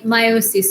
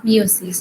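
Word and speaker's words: miosis: আই মায়োসিস হবে, নট মিওসিস। খেয়াল রেখো, বানানটাও দেখো, উচ্চারণটাও দেখো। মিওসিস কিন্তু সেল ডিভিশন ই দিয়ে, আর মায়োসিস মানে হচ্ছে গিয়ে পিপল সাইজটা ছোট হয়ে যাওয়া।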